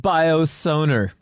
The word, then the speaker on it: biosonar: It's also called biosonar, Sounds so much better. which also rhymes with boner. Biosonar.